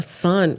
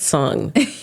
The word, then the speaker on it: Sung: So it's like sun. Yeah. Oh, a sun. Oh, it's even better. Yeah. I said sung. I need to say sun.